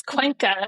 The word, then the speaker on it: Cuenca: mentioned, which I don't think I can even pronounce, actually, the one you said in the Andes. Where is that again? It's Cuenca.